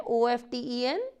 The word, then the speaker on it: often: These places are often, इसमें T silent है, OFTEN, T silent है तो इसको हम often बोलेंगे, जिसका मतलब है अक्सर औक़ात।